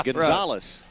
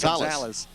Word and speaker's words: Gonzalez: It's Gonzalez. Right. Not Gonzalez.